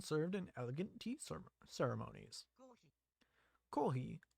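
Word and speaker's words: コーヒー: Kohi, or kohi, is the Japanese pronunciation for coffee.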